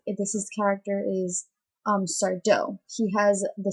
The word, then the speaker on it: Sardo: his character is um sardo he has the saying no Mister Accent on the dough then there's bettyanne she's